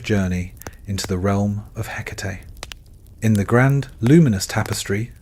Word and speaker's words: Hecate: Her name pronounced Hecate carries with it a resonance of antiquity.